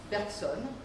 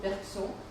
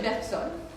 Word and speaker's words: Bergson: Bergson is pronounced in French Bergson because most of my American friends pronounce it Bergson, which tries to be French, but don't say it in French. Nobody understands. So we say Bergson.